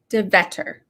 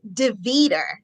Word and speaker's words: Deveter: pronounce your mrs devetter nope almost though close almost mrs devito so that yes defeater so it's defeated just in case anybody else wanted to know how you pronounce my name it's mrs devito that's me you are